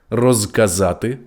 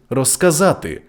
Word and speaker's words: розказати: кігті кігті легко легко у префіксах роз без кінцевий Z оглушується при швидкому темпі мовлення розказати розказати безпечний безпечний Я думаю ви